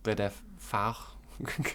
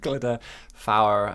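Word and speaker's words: Glyder Fawr: So I would pronounce it the Glidders. So you put me on the spot here. Glider Fawr, Glider Fawr, and there's three of them basically along the Glider route.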